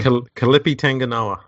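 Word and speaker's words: Kelepi Tanginoa: And I always get this dude's name wrong. Kalipi Tanganoa.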